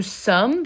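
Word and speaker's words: sommes: t are silent nu sum the s is silent at the end and it sounds like some over on the right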